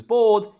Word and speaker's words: bored: And she was bored, entediada, is pronounced exactly the same as board game.